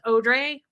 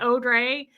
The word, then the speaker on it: Audrey: Natalie was like, hey, it's Audrey, the sassy Parisian. I was like, actually, it's Audrey. She pronounces it Audrey.